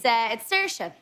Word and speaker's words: Saoirse: It's Saoirse. It means freedom. But I've got a little problem. You see, it's spelled wrong. It's a full typo.